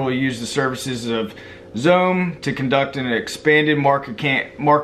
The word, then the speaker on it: Xome: And it's called Xome, and it's spelled X-O-M-E. It's pronounced Xome, I think.